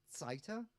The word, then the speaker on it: Seitz: I'm absolutely delighted to welcome Anna Seitz. Um she's German, so I have to pronounce the Z with a ts, you know, you know that, don't you?